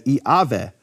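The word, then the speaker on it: Yahweh: he will be um but yve actually would be pronounced in certain periods of history of Greek as iave well a could be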